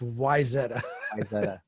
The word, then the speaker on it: Wayzata: ax is a Wayzata I'll give you the local the local pronunciation it's Wayzata and basically like the executives